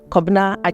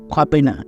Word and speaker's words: Kobina: people calling you by Kobina. Right. Everyone else calls you Kobina, except, of course, Ghanaians who know how to pronounce it.